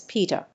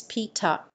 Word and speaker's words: PETA: no Peta is not pronounced as Peter the correct pronunciation of PETA is pita it stands for people for the ethical treatment